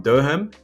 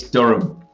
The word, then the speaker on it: Durham: Before we get into it, can you actually say where you're from correctly on my behalf, please? It's Durham. Yeah, I butchered it.